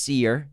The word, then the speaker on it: Sear: And the name Cole Sear is really interesting because it's spelled S-E-A-R, but it's pronounced seer.